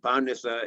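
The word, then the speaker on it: Πάρνηθα: Using modern Greek pronunciation, Mount Imitos, Pendeli, Parnitha, Egalio, each one with its own particular gift.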